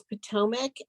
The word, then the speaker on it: Potomac: isn't from around here it's Potomac um and we deal in Potomac a lot so I just wanted to make sure that she knows that that's how you pronounce it yeah she she has